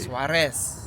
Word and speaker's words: Suarez: it Suarez Suarez Suarez I don't know if you're rolling that R correctly Suarez yes there you go Colombian Colombian yeah it